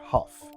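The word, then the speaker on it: Hough: from someone on Twitter why do you pronounce your name how when it's spelled h-o-u-g-h because that's how we spell our name and we pronounce it huff and the answer is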